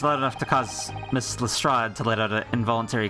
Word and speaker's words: Lestrade: Gatorade, but pronounced like Lestrade.